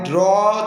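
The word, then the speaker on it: drew: আই ড্র থেকে, ড্র মানে আঁকা, ড্রয়ের পাস্ট টেন্স হবে ড্রু, অনেকে ড্রিউ বলে কারণ ড্রিউটা একটু উচ্চারণ রং, DRU এর উচ্চারণ হবে ডিকশনারি ড্রু।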